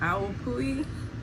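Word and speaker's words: Awapuhi: that works but um the Paul Mitchell that owl pulley I know that's how you say it that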